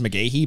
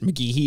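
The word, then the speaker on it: McGhehey: uh or actually i've always thought it was mcgahy but he pronounces it mcgehee in this movie and i was like oh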